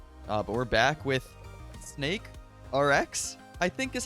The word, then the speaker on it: SNKRX: that for a little bit now here i pronounce it snakerx oh that makes sense actually snakerx cause